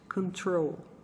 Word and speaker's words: control: O correto, então, é o seguinte, control. Control. A maioria dos meus alunos, quando lia essa palavra, imediatamente dizia control. porque talvez até pareça mais inglês do que control, mas o correto é você dizer control, tá bom?